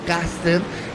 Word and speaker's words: Custer: por el general Custer, que se escribe Custer, pero suena Custer, y ya sabes lo que es un Custer hoy en día en el 2021.